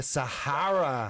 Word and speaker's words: Sahara: The Sahara. Es verdad. Ding, ding. Sahara. But it's That's true. We don't Sahara.